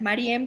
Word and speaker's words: María: es maría o sea es maría con acento en la del final pero muchas personas me dicen marian de hecho mi mamá